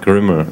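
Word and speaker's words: Grml: is another even derivative we pronounce it caramel it's gr ml questions of at Chandler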